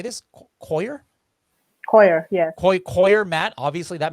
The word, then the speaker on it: coir: Coir, yes.